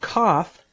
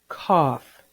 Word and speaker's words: cough: In the word cough, the OUGH pattern, make the aw sound. Cough. Say the word cough.